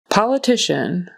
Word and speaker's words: politician: So, syllable stress on the second syllable, politician. Politician. Uh, so politician. The syllable stress is on the next to the last syllable. And that cia n, it's kind of like a t or whatever. It's um a shh sound.